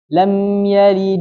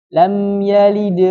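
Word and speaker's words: لم يلد: ada di tengah kata dia pengucapannya ringan lam yalid Wam yulad lam yalid Wam yulad paham ya jadi lebih ringan daripada yang Kubro lebih ringan daripada yang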